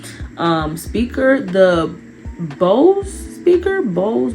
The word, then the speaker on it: Bose: The Bose speaker, Bose, Bowie, I think it's pronounced Bose speaker.